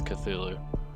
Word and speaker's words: Cthulhu: Or Cthulhu, however you want to pronounce it, but I personally think it's Cthulhu.